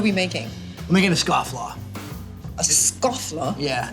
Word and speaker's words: Scofflaw: I'm making a Scofflaw.